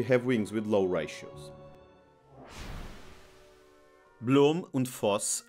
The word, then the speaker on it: Blohm und Voss: Blohm und Voss, now with the correct pronunciation, made some of the